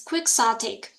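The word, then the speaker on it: quixotic: is called quick sotic it's a very awkward pronunciation for me it's quick satic the meaning is exceedingly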